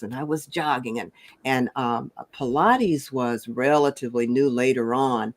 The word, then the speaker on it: Pilates: I was big into aerobics, and I was jogging, and Pilates was relatively new later on. Mhm. And I used to mispronounce it as pilots because, but It anyway, looks like that.